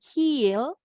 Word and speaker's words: heal: dan ini Nah kalau ini i-nya pendek jadi bacanya bukan Hill Kalau yang ini betul heal Kalau yang ini hell bukit hell hati-hati bukan